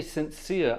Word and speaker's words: Saint Cyr: Sincere, by the way, is spelled S-T for saint, and then C-Y-R for sincere. Not sincere, the word sincere, Saint Cyr.